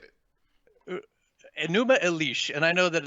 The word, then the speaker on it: Enuma Elish: I even looked up pronunciations. I think I'm there, but Enuma Elish.